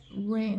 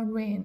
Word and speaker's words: reign: ก เ สี ย ง ว่ า First rain น ะ ค ะ 43 จ ด ค ำ ว่ า 43 คื อ อ อ ก เ สี ย ง ว่ า rain r e i g n rain first rain